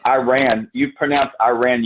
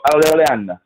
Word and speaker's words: Iran: You pronounce Iran. You go Iran.